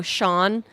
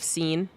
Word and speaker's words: Sean: Oh, Sean. S E an instead of scene.